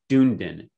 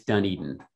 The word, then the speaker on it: Dunedin: is the fact that when you look at the way that Dunedin is spelled, it looks like Dunedin. And I really struggled when I first came. I'm like, Dunedin, what is Dunedin? Well, it turns out it's Dunedin, and it's from Scottish descent.